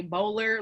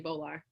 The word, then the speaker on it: Bowler: alabama so they say bowler like you know like a polar bear they say bowler but i just say bolar so i actually